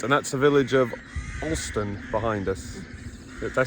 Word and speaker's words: Alston: yes all right and that's the village of austin behind us did i say it right you